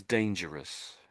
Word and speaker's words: dangerous: So, this one is dangerous. Dangerous. And again, you're okay. Dangerous. Yeah. You're sort of saying sort of Ross on the and I'm saying dangerous.